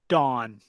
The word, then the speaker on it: dawn: Okay, so this is actually an aw sound, right? Dawn, which is going the thumbs up, aw on. So nice job, Nam Ling. Good listening, not aw, dawn. Now, if it was with the sound, you would hear done.